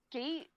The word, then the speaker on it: SK8: called it Skate SK8 is how that's spelled.